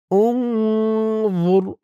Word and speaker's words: انظر: জবর আয়াতি انظر كيف জুর বলতে হবে। জুর বলা যাবে না। জুর বললে এখানে জার উচ্চারণ হয়ে যাবে। উনজুর য মুখটা একটু গোল ভরপুর করতে হবে।